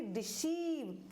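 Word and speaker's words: deceive: जैसे कि डिसीव, EI एक साथ आ गया है यानी, तो इसको हम क्या पढ़ेंगे, डिसीव।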